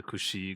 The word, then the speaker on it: XI: This is the XI Gundam, or how you actually supposed to pronounce it is the Kushi Gundam, which is kind of weird.